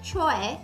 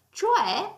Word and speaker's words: cioè: di tutti i giorni, cioè a volte viene pronunciato talmente velocemente che potrebbe essere confuso con c'è che invece viene utilizzato per indicare la presenza di qualcosa o qualcuno in un luogo.